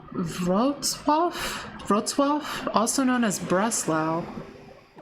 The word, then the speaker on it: Wrocław: Sounds like Wrocław. Wrocław. Alright, so that is how you say that.